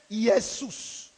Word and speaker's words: Iesous: Le nom Jésus vient du grec Iesous. Iesous, qui s'écrit U-E, accent grave, S-O-U-S.